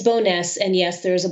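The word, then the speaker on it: Bowness: a a boil water advisory I hope I pronounce that correctly it's boness and yes there is a boil water advisory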